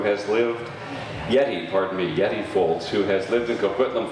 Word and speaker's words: Yetti Foulds: And our first storyteller is Yeta Folds who has lived Yeti, pardon me, Yeti Folds, who has lived in Kquitlam for many years.